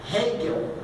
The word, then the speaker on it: Hegel: não só por ele, um filósofo alemão chamado Hegel, é a pronúncia.